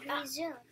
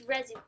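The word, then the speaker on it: résumé: It looks like it says resume. But it's resume. It's pronounced resume.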